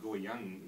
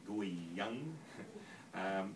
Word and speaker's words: Guiyang: Well, I went to a place called Guiyang in China. I apologise to the Chinese people because I generally pronounce that wrong. I think it's more like Guiyang.